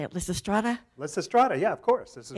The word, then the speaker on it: Lysistrata: Lysistrata, yeah, of course.